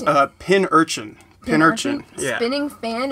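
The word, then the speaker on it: Pincurchin: how to pronounce it but yeah it's pin urchin straight up the nose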